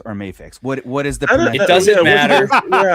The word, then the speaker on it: Mafex: Um but big question is are we calling it Mafex or Mayex?